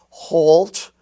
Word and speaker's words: halt: Now notice that in the LT spelling family, we also have halt, malt, and salt, where the A is pronounced like the aw sound in all and ball.